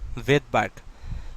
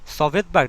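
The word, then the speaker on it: Svedberg: ওয়ার্ডটা আছে লেটারটা আছে এই এস মানে হচ্ছে ভেদবার্গ সভেদবার্গ না কিন্তু ঠিক আছে জার্মান শব্দে এস টা লোভ পায় ওরা উচ্চারণ করে না ভেদবার্গ সো দেখা যাবে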